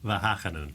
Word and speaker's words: Wageningen: the top Institute Food and Nutrition at the Wageningen University in the Netherlands. Did I say it wrong? Well, how do you say it? Wageningen.